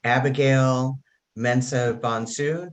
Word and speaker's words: Abigail Mensah-Bonsu: Today, I have Abigail Mensah-Bonsu. Did I pronounce that correctly?